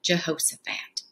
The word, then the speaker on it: Jehoshaphat: And if we clap it out, it has a lot of syllables. Jehoshaphat. Four syllables in that word.